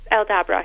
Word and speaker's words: Aldabra: Like, I'll have to find out how you pronounce that tortoise thing in just a minute. But Aldabra, did I get that right? Aldabra, yeah.